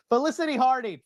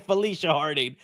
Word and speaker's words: Felicity Harding: Felicity Harding. I still said it wrong. Felicity Harding. I said Felicia Harding. It ain't no Felicia, Chris.